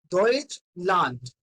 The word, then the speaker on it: Deutschland: Remember this thing that if we are having D at the end, it will sounds like T. It will sounds like T, or in Hindi, you will call it a Ta. Okay? So it is Deutschland.